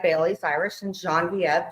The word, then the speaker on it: Genevieve: It's very French, like Bailey's, Irish, and Genevieve, Genevieve. If you split that up in 3 syllables, it means white wave.